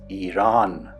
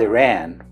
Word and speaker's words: Iran: And some of them insulted me for that, and saying that the correct pronunciation is Iran. and not Iran.